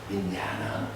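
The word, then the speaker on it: viññāṇa: 요 식이라고 하는 마음은 파일리어로는 어떻게 쓰냐 하면 윈다나. 그러니까 윈야에다가 요 A에 선이 보면은 이게 장음이 돼요. 그래서 윈야나라고 읽거든요. 윈야나.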